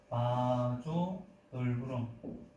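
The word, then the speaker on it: vasa nervorum: 그거를 이제 발음을 하면 이제 바조 널브럼, 뭐 아메리칸식으로는 베이사 널브럼이라고도 하는데, 이 신경의 혈관이 수축하게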